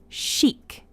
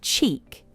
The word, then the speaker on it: chic: keeps the audience engaged shik it's pronounced as shik we don't say CH it's shic her Instagram is filled